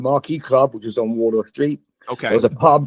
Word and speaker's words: Wardour Street: out 13th studio album, Wardour Street. I might be saying that wrong because I'm an American, but I don't know where Wardour Street is. Am I saying it right? Yeah, Wardour Street.